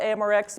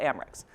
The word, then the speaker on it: AMReX: session so people always ask how do you pronounce it and I say well we call it amrx but it's okay if you call it amrex so this is the block structured AMR software